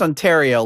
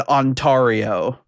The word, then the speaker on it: Ontario: Nobody was like, "Nah, you know, buddy, uh, it's pronounced Ontario.